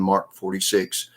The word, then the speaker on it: MK 46: who carried the heavy MK 48 + MK 46 machine guns pronounced mark 48 and mark 46 and the weight of